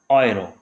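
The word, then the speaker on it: Euro: अगर आपको भाई कहीं पे EU या फिर ए उमलाउट यू देखने को मिल जाए, EU या फिर ए उमलाउट यू, इन दोनों की साउंड एक जैसी होगी, आप इसको क्या पढ़ोगे? ऑय। तो जैसे यहाँ पे इसका क्या बनेगा हमारे पास? ऑयरो।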